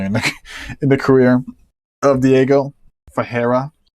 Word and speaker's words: Ferreira: Ferreira, I think. That's how you say it, Ferreira.